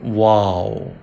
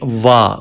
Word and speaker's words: و: Round your lips for pronouncing wow.